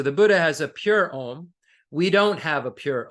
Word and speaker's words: Om: The Om has 3 syllables, Auma, body, speech, mind.